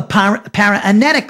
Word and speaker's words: paraenetic: we call a protreptic letter and also a paranetic letter. Let me spell the word protreptic. P-R-O-T-R-E-P-T-I-C. Protreptic, it's pronounced.